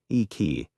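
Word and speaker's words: iki: This environment of restriction and hidden wealth gave birth to a powerful and enduring aesthetic philosophy known as icky pronounced ei.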